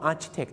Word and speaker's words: architect: Architect Architect ฝรั่ง ก็ Architect Architect คือ อะไร อัน นี้ จะ เป็น สี CH จะ เป็น ค ควาย ครับ แล้ว ก็ ต้อง ระวัง